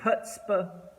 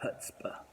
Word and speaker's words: chutzpah: with the letter c but the letter c isn't pronounced in either word why would i do such a thing well here's the reason i've got hutzpah so what is a